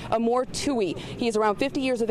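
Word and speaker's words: Amor Ftouhi: their radar at all again his name is Amore F fouille his name is actually pronounced Amore Tui he's around 50 years of age from Canada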